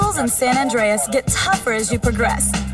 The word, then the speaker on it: San Andreas: Ooh, San Andreas rhymes with Dr. Zaius.